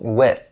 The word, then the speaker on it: with: the previous videos so when you pronounce this word try to stick your tongue out a little bit and push a little bit of air out of your mouth to enunciate the th sound so with with so